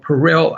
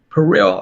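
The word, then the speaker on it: perillyl: there is inside lavender a chemotherapy agent called peril alcohol that's spelled p e r i l l y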